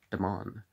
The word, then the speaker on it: Damon: The master that taught him music, most authors are agreed, was Damon, whose name they say ought to be pronounced with the first syllable short, though Aristotle tells us